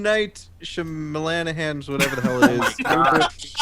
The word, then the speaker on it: Shyamalan: Night Shyamalan's whatever the hell it is. Wow. Shamalana. Bruce Willis discovers that Blank had really been Blank all along. It's an That's like Irish the name, police right? chief. Shamalanahan?